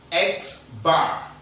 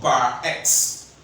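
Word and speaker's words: x̄: We pronounce it as Xbar or bar X.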